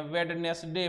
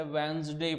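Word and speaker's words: Wednesday: वेडनेसडे पढ़ते हैं, नहीं, please don't do this, don't speak like that. इसे वेंसडे पढ़ते हैं। क्या पढ़ते हैं भाई? वेंसडे, वेंसडे।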